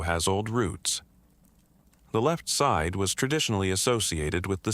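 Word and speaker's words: 四: In Mandarin Chinese, the word for 4, si, is nearly identical in pronunciation to the word for death.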